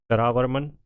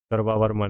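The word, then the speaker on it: सर्ववर्मन: और one Kings included, other Kings जो हैं वो कौन कौन से हैं, तो देखिए सरावर्मन, वावावर्मन, क्या है इसका प्रोनाउंसिएशन देख लें भाई, सर्वावर्मन है ये, और अवंतीवर्मन और गंधर्वर्मन, ग्रहावर्मन, सॉरी ग्रहावर्मन, ध्यान रखनी है आपको।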